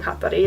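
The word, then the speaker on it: Hatari: I feel like such a weeb saying Hattari like that, but they said it like that in their Icelandic fucking TV show, so I'm gonna say it like that, and it sounds so Japanese, and I feel like I am 13 again.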